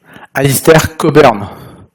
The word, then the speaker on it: Alistair Cockburn: Alistair Cockburn, c'est comme ça que ça se prononce, en 2005.